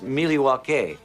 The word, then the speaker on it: Milwaukee: at devil radio actually it's pronounced Milwaukee which is Algonquin for the good land electric bikes are exciting